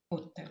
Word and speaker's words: hotel: Hotel. Hotel, Hotel. hotel, Hotel. hotel. They spell it with an H, but we do not pronounce that H.